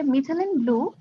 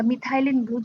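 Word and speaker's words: methylene blue: এবং এটা কি করে, এখানে লেখা আছে যে মিথিলিন ব্লু বা মিথাইলিন ব্লু, দুইভাবে উচ্চারণ ঠিক আছে।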